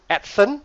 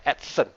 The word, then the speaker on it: ATCEN: stands for no worries down there so it's pronounced at sun not actin right accent okay it's not accent so um we are